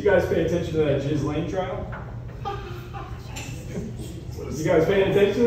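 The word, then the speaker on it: Ghislaine: Did anybody else have like a stroke trying to figure out how to say her name? And then you realize like, oh, it's just Jiz Lane.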